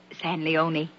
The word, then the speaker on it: San Leon: rancho san leon ah it's pronounced San Leone main written that way